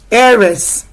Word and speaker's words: heiress: It is a diphthong that starts the sound and not consonants. So we are not looking at the consonant letter H. Heiress.